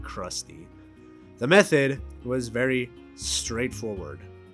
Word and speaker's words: CRXTY: I'm pretty sure you're supposed to pronounce it Krusty.